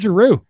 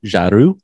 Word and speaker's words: Giroux: First off, since I'm practicing my French, Giroux, I believe is how you would pronounce it. Giroux. Giroux.